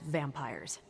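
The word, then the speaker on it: Vampyres: they were vampires vampires with a Y pronounced exactly the same as vampires I suppose that was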